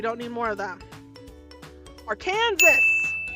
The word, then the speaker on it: Arkansas: Arkansas or Arkansas, depends on who you ask, right? I'm pretty sure the correct pronunciation is Arkansas.